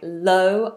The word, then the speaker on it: low: don't break the law low o movement l no movement low La all right